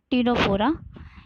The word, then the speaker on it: Ctenophora: ठीक है, सेकंड चीज जो इस वर्ड है टीनोफोरा, ये इसके वर्ड में ही इसका स्पेसिफिक कैरेक्टरिस्टिक छिपा है।